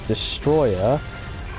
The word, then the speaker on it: Destoroyah: that's the way you say it in broken English in a certain sense. Although the actual American English translation was Destroyer, people prefer to say it like Destoroyah because it just sounds better, really, if you ask me.